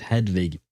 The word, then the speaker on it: Hedwig: I love the way you wrote it, though, to help me pronounce it, Hedwig. It is indeed pronounced like that, which is kind of